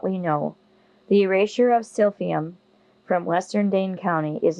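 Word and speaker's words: silphium: only for what we know the Eraser of sfum from Western Daye county is no cause for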